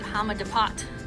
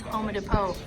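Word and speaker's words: Home Depot: We have always called it Hamadapot, and this one's Homer Depot. Apparently, Homer Depot. Maybe we pronounce it wrong. All this time we thought it was Hamadapot. It's Homer Depot. Ugh. Homer Depot. Homer Depot. Not Hamadapot.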